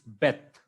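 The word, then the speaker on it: בּ: That is, the major difference is without Dagesh is Vet, with Dagesh is Beth.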